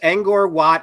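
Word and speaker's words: Angkor Wat: I forget inor watt maku Pichu am I pronouncing all this stuff right there's there remnants of it's angor It's angor watt it's Machu Picchu in Peru what else were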